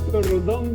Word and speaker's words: Rondón: Rondón. ¿Lo pronuncié bien, Rondón?